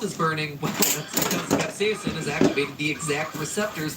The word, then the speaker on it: capsaicin: about is the chemical capsaicin. And yes, I'm pronouncing it capsaicin because that's how Merriam-Webster told me to pronounce it, even though I have never once heard anyone in my life pronounce it that way.